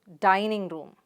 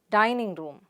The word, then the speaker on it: dining room: rule again for you most compound words have primary stress on the first element so how do you pronounce it dining room the stress is on the sound here dining room dining room good now